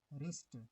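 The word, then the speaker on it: wrist: रैथ का W silent, रिस्ट, रिस्ट का W silent, com, काम का बी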